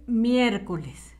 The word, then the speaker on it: miércoles: a faltar ninguna letrita para que diga correctamente miércoles con acento en la primera e de preferencia la mayúscula